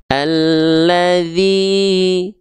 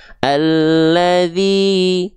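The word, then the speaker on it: الذي: Caranya diayunkan. Diayunkan 2 kali ayun, karena 2 harokat, 2 kali ayun dengan ayunan pakai nada. Naik, turun. Alladzi, nah, naik lalu turun. Alladzi, 2 harokat, 2 kali ayun, 2 kali naik, ya, 2 kali naik turun.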